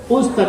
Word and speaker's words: Ustadz: pertanyaan Barakallah barakallahu fikmi Kenapa us tulisannya Ust Bacanya apa Ust Ustaz itu u t a d z Ustaz kalau